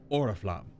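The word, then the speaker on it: Oriflamme: places yeah because like oriflam right there I've seen that in other cases or maybe other games where it was Ora flame where the actual me at the end is pronounced but in this game it's just auraflam right and then we've also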